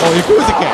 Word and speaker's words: Yakuza: You said it wrong. It's Yakuza.